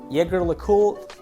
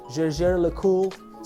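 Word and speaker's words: Jaeger-LeCoultre: speakers to pronounce, but it goes something like Jaeger LeCoultre, Jaeger LeCoultre, something like that.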